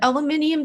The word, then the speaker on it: aluminium: heard reuter oh wow the aluminium thing is so crazy it is the only word that english people just fully mispronounce we just add a whole extra syllable i don't like where